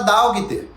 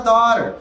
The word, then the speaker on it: daughter: você não vai falar dogter, você não vai falar dogter, você vai falar daughter, você pode falar daughter, daughter, daughter, você vai ter uma pronúncia parecida.